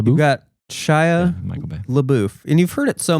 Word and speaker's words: LaBeouf: LeBeouf, and you've heard it so many different ways, haven't you? LeBeouf, LeBeouf. It's LeBeouf. LaBeouf.